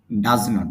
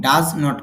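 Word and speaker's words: doesn't: ডু নট K short সংক্ষেপে বলা যায় ডোন্ট এবং ডাজ নট কে সংক্ষেপে ডাজন্ট বলা যায় অনেকে ডাজেন্ট বলেন ডাজেন্ট না উচ্চারণ হবে ডাজ ডাজন্ট ও স্ট্রাকচার দেখেন প্রথমে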